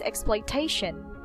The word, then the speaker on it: exploitation: just the tip guys for words with tion put the stress on the second to the last syllable it's not word syllable um just like just like this exploitation exploitation we don't say exploitation or exploitation exploitation so the second to the last syllable is being stressed same with cooperation cooperation